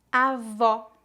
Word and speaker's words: avó: Pronúncia aberta. Avó, avó.